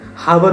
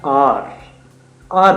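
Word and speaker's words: hour: जो होते हैं तो उनके लिए बेसिकली हम हार बोलते हैं, हावर बोलते हैं, बच्चे उसको मिस प्रोनाउंस कर जाते हैं। एच ओ यू आर होता है आर बोलते हैं बेसिकली।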